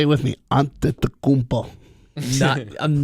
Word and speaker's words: Antetokounmpo: If you First- actually take your time and look at his name as it's spelled, it makes sense. I've got no time for that. Antetokounmpo.